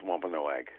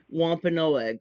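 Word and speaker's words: Wampanoag: And uh my preferred pronunciation is wa no egg. Wa no egg.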